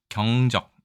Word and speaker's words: 경적: 자이 글자는 경적이라고 읽습니다 경적 앞에 글자가 장음이네요 자 뭐 유의하시면 될